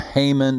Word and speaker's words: Haman: a right-hand man named haman that always rhymes with hangman which is appropriate because